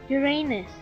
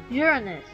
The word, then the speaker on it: Uranus: Many people pronounce this planet as Uranus, but for the actual scientific name, it is pronounced as Uranus.